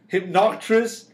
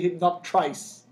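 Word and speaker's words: Hypnocatrice: Hypnoctris. I have people say Hypnoctrice. Or Hypnotrice.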